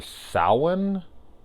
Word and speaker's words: Samhain: got the look of Sam which is supposed to be short for Sal one which is how you pronounce Samhain which I actually didn't